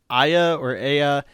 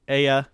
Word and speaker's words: Aya: Once Aya gets a look.